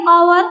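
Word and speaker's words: hour: आवर और आर। तो ये जो ओ लेटर, यहाँ पर भी हम क्या यूज करने वाले हैं? यस, एन आवर, ऐसे बोलेंगे। एच इज the silent letter, that's why.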